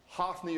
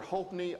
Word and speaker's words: Hophni: Hopni makes more sense to me because that seems to be the way PH is usually pronounced in Hebrew. But I did see a lot of sources claiming that even in Hebrew it's Hophni.